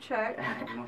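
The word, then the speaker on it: Tchuck: Salut Chuck. Et ça s'écrit T-C-H-U-C-K. Oui. Chuck, comme check ça? Ouais, comme Chuck, mais il y a U.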